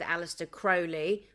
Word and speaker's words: Aleister Crowley: There are also some that say he was friends with Aleister Crowley. That's how you pronounce his name.